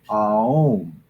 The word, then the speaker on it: Om: And when we, and in the classic meditation, when you hear the meditation, the mantra of Om, correctly pronounced is Aum, Aum.